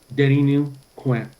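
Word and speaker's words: Deninu Kųę́: Denny New Quinn. Denny New Quinn. Yeah, I pronounce it with a W instead of a U. It'll come out a little better. Denny New Quinn. Denru Quinn.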